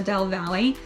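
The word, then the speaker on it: Del Valle: Tesla is technically Austin, but it's right next to Dell Valley. And so it's spelled Delvalle, and you'll want to take a look.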